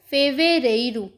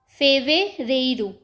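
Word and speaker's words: fevereiro: जा नेरू फरवर को फेवे रेु फेवे रेु मार्च को मार्सू मार्सू अप्रैल को आब्रयू आब्रयू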